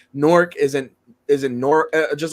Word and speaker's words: Newark: it's nor I just keep hearing people say Newark yesterday and it pissed me off it's it's norc like you talking about during the UFC event